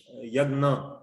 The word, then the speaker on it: यज्ञ: ये जानकारी मिली कि कैसे यज्ञ मैं पिछली बार प्रोनाउंस कर रहा था, परंतु उसका जो मैं माफी चाहता हूं, उसकी जो प्रॉपर प्रोनाउंसिएशन है वो है यज्ञ।